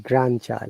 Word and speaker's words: grandchild: can see that you're not pronouncing d in grandchild very good because we don't pronounce d in grandfather grand granddaughter look at this amazing